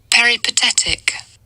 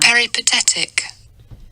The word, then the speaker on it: peripatetic: The correct pronunciation. Yeah. You ready? Peripatetic. Peripatetic. Peripatetic. Okay. Got it? One more time. Peripatetic.